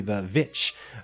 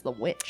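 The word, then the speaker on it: The VVitch: in his first movie, The Witch. I thought it was The Witch. It's technically both. Okay. It's spelled VV, but most sites just put it as The Witch, but really it's The Witch.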